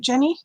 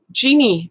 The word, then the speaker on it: Jeannie: Is that how you pronounce it, Jenny? Jeannie.